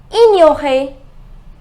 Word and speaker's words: ignorer: It is ignorer. Ignorer. GN near.